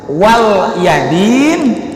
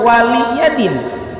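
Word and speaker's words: وَلِيَ دِينِ: Selama ini saya baca lakum dinukum wal yadin, padahal wali yadin, tapi li-nya pendek.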